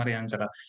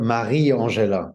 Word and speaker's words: Mariangela: So my family always call her Marie Angela. So they really, stop in the middle, whereas in Italian it's Mariangela both together.